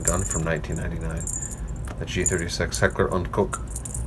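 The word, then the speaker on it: Heckler & Koch: the g36 heckler on cook heckler and coke is the american pronunciation the german pronunciation i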